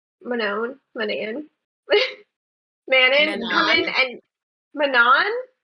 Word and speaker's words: Manon: where's the catch versus other new characters like Manon Manon man man and Manan it's it's man on